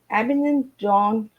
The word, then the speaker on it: Abingdon: So before we get started, Duncan, I want to get out where you're from, because I couldn't pronounce it right. So I live in Abingdon, which is Abingdon.